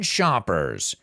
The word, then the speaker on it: shoppers: where you go and be careful with the pronunciation shop versus Chop Chop think about the sound it makes when you're chopping onions so you got to make sure you're shushing somebody shh Shoppers and maybe today we've